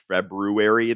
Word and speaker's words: February: And sorry, I'm one of those weirdos who insists on pronouncing Feb-RU-ary the way it's spelled. I know that most people don't.